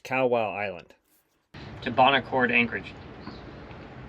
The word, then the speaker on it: Kawau: morning and head to Kawa Island I think is how you pronounce it I learned later that the proper pronunciation is cow wow Island to Bon Accord